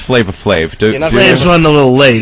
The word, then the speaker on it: Flavor Flav: Does Flavor Flav and VH1 and everyone realize that we're off the air in like 15 minutes? You do know it's Flavor Flav.